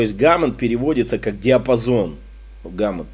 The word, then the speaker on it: Gamut: Гаммот, по-моему, да, правильно произносится, гаммот.